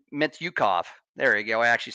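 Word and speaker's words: Mintyukov: Their forwards, guys like Zegras, guys like Terry, and even guys like Mityukov.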